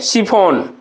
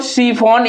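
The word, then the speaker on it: chiffon: शिफॉन। क्या पढ़ेंगे इसको? शिफॉन।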